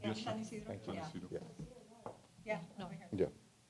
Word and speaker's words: San Isidro: Did I pronounce that correctly? Yeah, San Isidro.